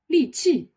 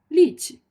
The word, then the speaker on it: 力气: 力气 so if you read it as fourth tongue, it would be like 力气 and it's wrong. The right tongue is 力气 and that's light tongue.